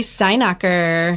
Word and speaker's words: Steinacher: Well, it's Stein, so you think like German beer?